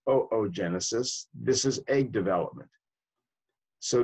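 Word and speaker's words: oogenesis: what's called looks like boo Genesis but it's pronounced oh oh genesis this is egg development so these hormones stimulate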